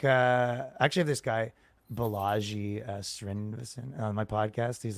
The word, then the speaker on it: Balaji: lot of ways, like actually have this guy Balaji Srinivasan on my podcast. He's like probably I think's like one of the smartest guys. And what's his name? Bellagio?